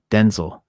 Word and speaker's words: Denzel: They wrote Densil. Denzel is how it's really pronounced.